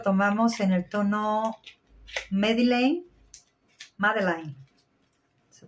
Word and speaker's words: Madeleine: Y este lo tomamos en el tono Madeleine, Madeleine, se pronuncia.